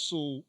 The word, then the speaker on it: Soule: Charles Soule is the writer on these two books, and what makes Charles Soule or Soul depends on how you want to pronounce it with the name.